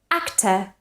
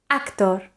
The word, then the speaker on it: actor: sofyan north in guava take a look at these words which Spanish and Catalan speakers tend to mispronounce because of precisely schwa actor famous focus consider so we shouldn't say actor famous consider and focus so again we should produce a schwa in the unstressed syllables again actor famous consider